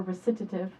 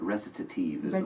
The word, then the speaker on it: recitative: looking forward to this the new album recitative unless you prefer recitative restitute Eve listen to tu si I know it's an Italian word so we're all saying it wrong believe it recitative that's actually easier I think